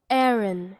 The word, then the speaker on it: Aaron: Aaron, Hebrew. So, it's just called Aaron. So, pronounced exactly the same, but it's spelled differently.